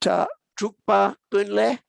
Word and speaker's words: Drukpa Kunley: Now, the other person that you quoted, was it Drukpa Kunley? Drukpa-Kunle. Yeah. Did I spell it?